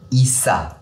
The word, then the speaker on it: Isa: Signification glace, prononciation Issa. Ah d'accord, ok, donc c'est Issa.